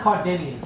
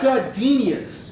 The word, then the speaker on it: gardenias: Something with Cardinians. I don't know. What Like the fuck? Gizmo's your terrible life. It's pronounced gardenias.